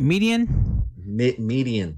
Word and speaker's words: Midian: Am I saying it right? Midian? Median. Not to be confused with between the freeways or the streets. Medium.